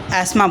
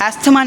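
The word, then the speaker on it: asthma: बात करते हैं तो इसे हम एस्मा बोलते हैं अस्थमा नहीं बोलते हैं इसे एक्चुअल प्रोनाउंस इसका एस्मा होता है ठीक है तो एस्मा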